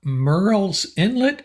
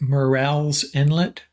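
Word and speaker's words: Murrells Inlet: you this time we have David rouard from Merl's Inlet Merl's Inlet South Carolina is that right Dave that's correct I did I pronounce that right morel's Inlet yes yes okay very nicely done yeah and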